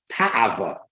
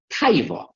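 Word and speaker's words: תאווה: In the Hebrew, in the Holy Tongue, it's called ta'ava, or commonly pronounced taiva.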